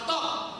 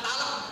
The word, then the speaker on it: TOK: Jangan salah baca, di Jawa Tengah ada yang baca produk talak, dikira bedak. Nah ini punya talak, gitu enggak? Ini bacanya jangan produk talak, produk TOK.